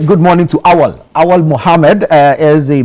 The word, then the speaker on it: Awal: That's how that's the pronunciation. Awal.